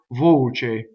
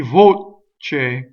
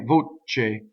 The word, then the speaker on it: voce: right so this word voce so another mistake you can make in this word is to double the right so let's talk about